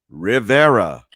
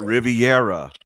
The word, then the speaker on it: Rivera: give you an example Rivera is not Riviera all right yes Rivera yeah but you have